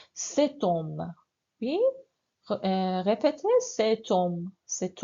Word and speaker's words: cet homme: On fait la liaison. La liaison, c'est obligatoire. Donc, cet homme. Oui, répétez, cet homme. Cet homme parle vite. Oui. So homme, c'est faux.